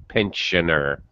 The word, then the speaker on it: pensioner: the way pronunciation is it's an sh sound in Pensa pensioner pensioner a pensioner yeah you got the